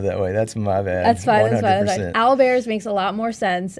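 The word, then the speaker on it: owlbear: calling them Al bears like o WL and Al Bears yeah before okay before the stream roll the tapes back we had a spell it and he said Al did or I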